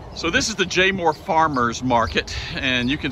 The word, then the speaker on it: Jaemore: Today, Joan and I are at Jaemore Farms.